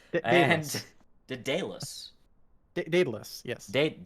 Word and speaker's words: Daedalus: here on uh red uh word i cannot pronounce and de dallas daedalus yes date daedalus yes they download it is that english it's